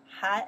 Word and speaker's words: 寒: 寒 is winter.Han is a winter, the season, winter, Han. Winter, we say 冬天, right? 冬天, okay. Han is means for the temperature, okay?